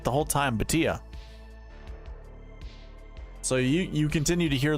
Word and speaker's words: Bhatia: It's Bhatia. Love that. Thank God. Akshay Bhatia. Lovely. We were saying it right the whole time. Bhatia.